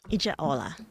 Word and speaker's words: Ijaola: Ijaola. Ijaola. Yeah. I was going to put in my Spanish pronunciation with the for the J, but I'm glad I asked.